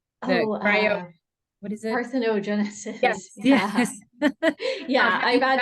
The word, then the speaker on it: parthenogenesis: The I can't pronounce the scientific term. The Oh, cryo, what is it? parthenogenesis.